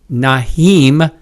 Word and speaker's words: Nyheim: it's it's not an easy name to say nahim Heinz it's like you want to put the m in one spot and whatever nahim yes yes you just have to say it